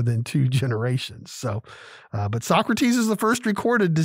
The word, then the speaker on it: Socrates: from a guy named Socrates actually Socrates but if you are a fan of Bill and Ted's Excellent Adventure like I am they pronounced it so crates but Socrates moaned about